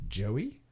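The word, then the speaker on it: Joie: the name the guy I think it's Joey but it's spelled j o i e Joey Joey Joey Joey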